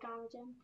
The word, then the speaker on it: ptarmigan: Is that how you pronounce it? Willow ptarmigan?